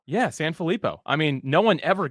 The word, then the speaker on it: Sanfilippo: I'm pretty sure you said it right San filipo yeah San filipo I mean no one ever gets it I